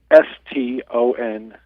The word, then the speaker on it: Stanczyk: You call it Stanczyk? How do you The spell it? Stanczyk, it is Stonzek.